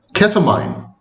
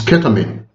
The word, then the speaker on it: ketamine: continue my video saying ketamine. But of course the correct pronunciation is ketamine.